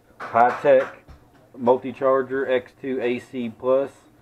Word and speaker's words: Hitec: present I got here things pronounced high-tech multi charger x2 a